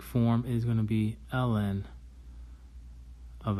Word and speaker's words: ln: So the natural log is what we call ln. Okay, and ln is pronounced L N.